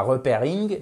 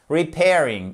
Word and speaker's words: repairing: change tout parce que c'est pas repairing non c'est repairing écoutez repairing repairing vous préférez lequel laquelle